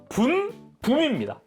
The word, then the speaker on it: 분붐: 근데 일단 명칭부터 좀 이야기를 해야겠어요. 왜냐면은 이게 한국어 발음상 붐이라고 되어 있는 느낌이거든요. 근데 원래 이름은 분붐입니다. 분붐 니은받침이랑 미음은받침이 원래 이름인데 이제 원래 영문명도 그렇게 되어 있어요.